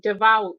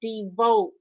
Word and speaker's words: devout: I were arresting and it was supposed to be devout d-e-v-o-u-t he pronounced it devote Catholics and he usually